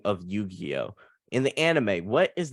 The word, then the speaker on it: Yugi: let me make sure I got his name pronunciation right there um let's see all right so you got Yu-Gi-Oh it says Yugi on the the character name but I've never